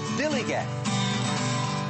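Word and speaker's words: DILLIGAF: In a word, dillygaff. That's spelled D-I-L-L-I-G-A-F. Dillygaff.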